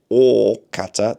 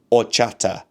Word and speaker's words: horchata: Ah, the first H is silent. Okay, or chata. The s c h is pronounced as in English like church, channel. Okay, so horchata.